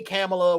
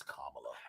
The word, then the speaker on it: Kamala: the girl think the girls are like hey camelot whatever she's like it's kamala and i went to school with a with